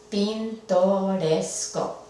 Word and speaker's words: pintoresco: y entre estas 2 pintoresco vemos que la sílaba que debería de llegar el acento fonético es la penúltima pintoresco y así es esta palabra pintoresco entonces no requiere del